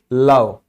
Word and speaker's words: love: लव, ठीक है। यहां भी ई साइलेंट है।